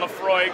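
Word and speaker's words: Laphroaig: enjoy your whiskey here I have ardore and Lefroy it's a little bit tough to spell out but uh that's how you pronounce it it's from the aisle of Isa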